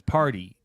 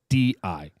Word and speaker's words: Pardi: Because his last name's Party. Right. Pardi.